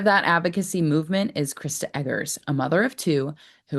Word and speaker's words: Eggers: It's Eggers, right? It's a hard G. It's Eggers, yep.